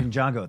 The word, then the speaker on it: Ninjago: n how do you say ninjitsu nitsu Ninjago Ninjago thank you uh N I have the same